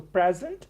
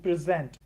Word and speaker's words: present: So for example, present, it has two pronunciations, so present and present.